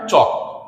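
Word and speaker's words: chalk: এই এল টা কিন্তু উচ্চারণ হয় না কি উচ্চারণ হয় চক এল টা বাদ দিয়ে হচ্ছে এটাকে বলা হয়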